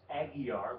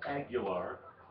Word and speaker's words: Aguilar: A lot of times you see that name pronounced Aguiar, but in his case it's pronounced Aguilar.